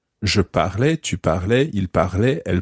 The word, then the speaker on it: parlais: Je parlais, tu parlais, il parlait, elle parlait.